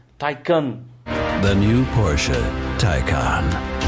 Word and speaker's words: Taycan: esse nome em alemão e inglês as duas pronúncias é they can't depois eu fui leno e descobrir que o